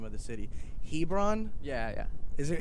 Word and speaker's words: Hebron: Now you're from, and I apologize if I butcher the name of the city. Hebron? Yeah. Is it Hebron?